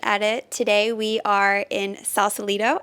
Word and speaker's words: Sausalito: Today we are in Sausalito. I pronounced that correctly, right? You did.